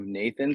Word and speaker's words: Knathan: by the name of Nathan spelled k-n-a-t-h-a-n the K is silent and as far as